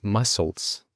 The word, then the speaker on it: muscles: Esa C no se pronuncia. Entonces, mucha gente va a tener dificultades para decir muscles, muscles. Genera mucha confusión. La pronunciación correcta es mo, no es mu, es mo, es una vocal neutra.